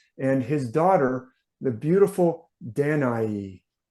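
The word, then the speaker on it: Danaë: daughter the beautiful danai it's pronounced different ways you see different Scholars tell you to pronounce it it different ways it does have these two dots over the E so sometimes that means that e is pronounced as a separate vowel from the a so danai is one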